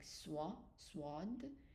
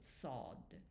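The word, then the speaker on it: صاد: So you pronounce it more like swad but we pronounce it sod sod.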